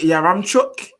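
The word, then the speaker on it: Yaremchuk: And is it Yaramchuk?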